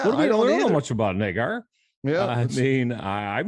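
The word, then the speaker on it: Naggar: some competition they sign chris nagar i guess is how you pronounce it n-a-g-g-a-r he's a rookie out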